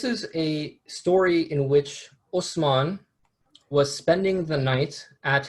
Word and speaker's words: Osman: The word Ottoman is derived from a mispronunciation of the word Osman, or the name Osman, which is itself a Turkish mispronunciation of the Arabic name Uthman.